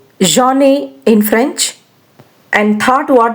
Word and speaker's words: j'en ai: Now let's try to pronunciate it. Je-en ai, j'en ai.